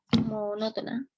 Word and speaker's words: monótona: Entonces uno dice monótona, con acento en esa O, monótona.